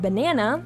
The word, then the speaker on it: banana: In the word banana, the second syllable is accentuated or stressed. How can you tell? Well, it is louder and longer than the first and third syllable.